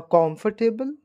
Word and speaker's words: comfortable: here what actually said R is silent there we don't pronounce the word r so it will become